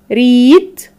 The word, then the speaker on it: read: for two different forms so if we pronounce it like the long vowel sound ee it will be read for the present form if you pronounce it like the e a letter pattern here as the short vowel sound e it will be which is a post form so we have reit as the long vowel sound ee so it is the present and if we have